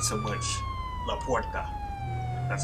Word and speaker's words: La Puerta: Not so much La Puerta, that's how it's pronounced.